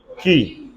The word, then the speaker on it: quay: Key. Good. That's found in QUAY, which is pronounced as key.